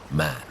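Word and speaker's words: Mahon: He had a Roman nose, a snow white, long beard, and his name was M, but he insisted that it should be pronounced man.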